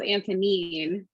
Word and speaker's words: Antonine: on right now so antonin do you want to start us off yes and um and it's pronounced antonine which is um you know it's not obvious okay thanks for correcting